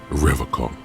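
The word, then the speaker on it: Revachol: to stay strong for revacol forever he pronounces River com with a hard K unlike other people I'm sorry did he say revical I like to pronounce it the hard way the old way the Vesper time way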